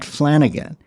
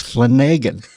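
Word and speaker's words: Flanagan: he says, "No, no, it's not Flanigan." He says, "There's no other way to really pronounce Flanigan except for a pathological liar. He makes the along. It's Flenagan."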